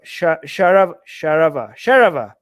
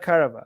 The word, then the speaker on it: Charvaka: Charvaka, Sharava, not Karava.